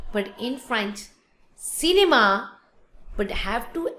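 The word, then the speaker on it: cinéma: Then another example is cinema. In English is cinema, but in French, cinema, but have to accent with the E. Cinema. Cinema. Have to put the accent with the E.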